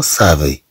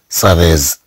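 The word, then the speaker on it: savez: كما عندنا هنا فو سافي، فو سافي سافي، لا نقرأها مثلا سافيز بل نقرأها سافي.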